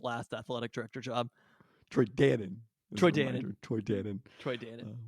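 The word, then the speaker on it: Dannen: uh that Troy Troy Dann it's not spelled like the yogurt but it is pronounced like the yogurt Troy Dan is this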